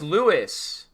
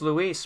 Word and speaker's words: Luis: You said it's Louis. You said it's Lewis. Yes, it is. Like St. Louis. Yes. It's not though. You know he's Dominican, right? He doesn't say his name like that.